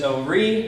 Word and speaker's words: Horry: ranger at Hampton is how do we pronounce that word? And so I teach people it was Horry, now it's Horry, and I get them on the right track.